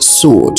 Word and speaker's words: sword: For example, S W D is pronounced sword. So is the W silent? Well, it is.